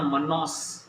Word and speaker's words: Manaus: तो देखना मनास, इसकी स्पेलिंग है ये MANAUS, राइट।